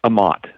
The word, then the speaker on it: Aamodt: your last name it's a mott so it rhymes with a lot ahmad okay ahmad dr